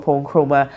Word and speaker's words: Oppong Nkrumah: a wonderful time spending time with the honorable Kuon Chroma MP for FB. Did I pronounce that well?